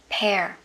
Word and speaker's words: pear: Rồi tiếp, quả lê của mình á, thì mình sẽ đọc là pear. Pear, không đọc là peer nhé. Pear.